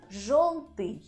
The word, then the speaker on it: жёлтый: But there are letters in Russian language which always under stress, and this is letter yo. So if you see this letter, you can be sure that the stress is on this letter.